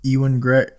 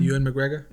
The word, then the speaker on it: Ewan McGregor: Well, I was showing him with Ewan Greg. How do you say his name? Ewan McGregor?